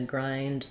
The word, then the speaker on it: grind: lately or I'm gonna grind coffee beans again we have the eye diphthong here um this one I would just build it from from the eye so try saying I Rye grind um yeah it's not